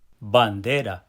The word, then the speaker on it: bandera: Bandera. Bandra. Bandera. Did you hear those three syllables? That pow syllable in the center of the word on the they say flag.